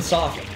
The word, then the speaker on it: soften: Well, you don't pronounce them soften like the the correct way to pronounce Yeah. soften is softly. You don't hit that T.